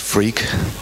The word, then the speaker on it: Freke: freak allegedly and uh my name really is pronounced freak and I guess if